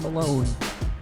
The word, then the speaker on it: Malone: Kevin Malone. E, but you don't pronounce the E.